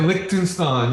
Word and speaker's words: Liechtenstein: ben how are you so is that a lichenstein in the background liechtenstein how do you how do we pronounce that liechtenstein yeah it is i is it a mural